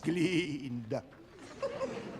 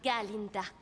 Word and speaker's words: Galinda: Miss Glinda. Oh, en réalité c'est Galinda avec un gars.